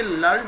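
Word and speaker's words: learned: और यदि इसका प्रोनाउंसिएशन लर्निड होता है तो फिर ये एडजेक्टिव का काम करेगा।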